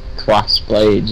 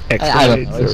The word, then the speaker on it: X-Blades: I remember being in the chat when he was playing Crossblades or X-Blades. It's X-Blade. It's X-Blade.